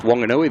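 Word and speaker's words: Whanganui: is Wonganoi is pronounced Wonganui. They don't pronounce the wh as a F sound.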